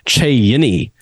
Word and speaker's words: Cheyenne: city is in the Cheyenne system I think I'm saying that right you may also say Che yini um if you're looking at direct pronunciation of what it says it's like a fine wine um on the Galaxy